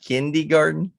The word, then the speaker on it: Kindergarten: I was at some kindergarten, I guess. Uh-huh. So maybe it was Did 63 or so, but you say kindergarten?